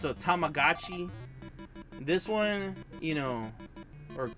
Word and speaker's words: Tamagotchi: if I give it, you know, it's a Tamagotchi. This one, you know, or Tamagotchi, there we go, my apologies. They think they pronounce it differently in this, because technically Gotchi is a different one.